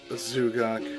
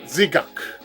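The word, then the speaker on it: ザクII: Because in the dub, they always pronounce it as Zugak. In Japanese, it's Zigak.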